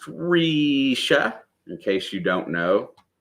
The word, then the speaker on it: Risha: It's pronounced Risha, in case you don't know.